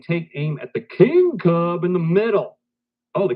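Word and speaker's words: Kubb: I I'm just tasting nasty this one is pronounced cub two teams take turns tossing sticks at each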